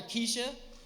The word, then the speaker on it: Kesha: a big fan of cat one time I mispronounced Kesha's name to this girl she got all mad I called her Kesha she goes it's not Kesha it's Kesha it's